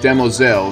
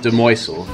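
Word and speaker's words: demoiselle: And yes, it is pronounced Demoel, not Demoisel. I pronounced it wrong back in part five. Sorry. It's meant to be said with a French undertone.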